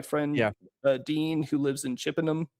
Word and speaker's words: Chippenham: My friend Dean who lives in Chippenham, is that how you say it? Chippenham.